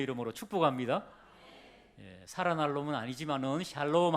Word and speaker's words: 샬롬: 발음을 잘 하셔야 됩니다. 실제로 옛날에 얼마 전에 어떤 목사님이 암에 걸려 죽어가는 불신자인데 이 단어를 모르는 사람입니다. 그런데 목사님이 샬롬 그랬답니다. 암에 걸려서 죽어가는 사람한테 살롬 그랬는데 그분은 목사님이 나를 살롬이라 그러네, 살아날롬, 그렇게 알아듣고 그 믿음을 가지고 열심히 기도해가지고 암이 나았대요.